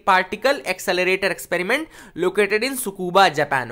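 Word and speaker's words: Tsukuba: Okay, बेले टू is basically what a particle accelerator experiment located in सुकूबा Japan. Okay, अब T silent रहेगा, सुकूबा Japan बोलेंगे।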